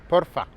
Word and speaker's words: porfa: peut dire bien sûr por fav fav a s'il te plaît peux-tu m'aider attention si vous voulez faire natif vous pouvez aussi dire porfa avec un accent tonique sur le haut porfa porf s'il te plaît